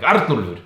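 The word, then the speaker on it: Arnúlfur: Arnùlfur. That's a little bit for you to chew on, right? Yeah. Arnùlfur. It's like you have to scream it a little bit, like Arnùlfur.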